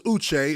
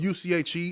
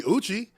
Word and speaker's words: Uche: Like, my name is Uche. It's spelled U-C-H-E. A lot of people say Uche. I wouldn't just let them continue calling me Uche. Like, you're going to say Uche. Eventually, you're going to say it, or you're not going to be around me.